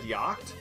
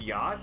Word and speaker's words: yacht: like okay for the longest time i said yokt and uh and then i was like oh uh because the thing is like initially i thought it was regional but no actually everybody i knew pronounced it yacht i just i heard in there and just